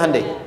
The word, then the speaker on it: Hyundai: Hyundai kan dibacanya Hande ya kan.